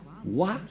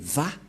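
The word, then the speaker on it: ו: disent mais en fait ce n'est pas wa la prononciation mais va pour les Juifs les Juifs le prononcent va nous allons voir cette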